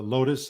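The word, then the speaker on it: Lotas: link tree is uh lotus underscore productions now lotus is spelled with an a it's l-o-t-a-s so it's lotus underscore productions but you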